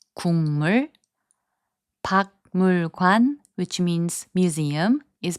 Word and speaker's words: 국물: So 국물, which means soup broth, is pronounced as 국물.